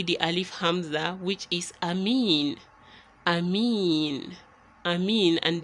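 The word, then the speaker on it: أمين: course you know it we are not saying amini because we aren't continuing it assuming we are continuing to the next verse then we would put the kids right there but because we are stopping here we are substituting it with a spoon so Amin instead of amini and you wouldn't say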